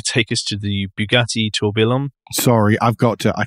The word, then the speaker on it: Tourbillon: It's Tourbillon, because it's a French term, so it's a Y instead of a double L. There's no L's. Tourbillon, yeah. Oh, okay. It's like famille. Tourbillon.